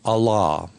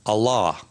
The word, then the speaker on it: Allah: of Islam repeat the name Allah which refers to the one God and two things which are interesting about this word is it has two a sounds in it again and